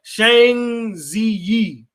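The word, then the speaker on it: Zhang Ziyi: Her name is Shang Ziyi. Something like that. It's spelled like ZHANGZIYI.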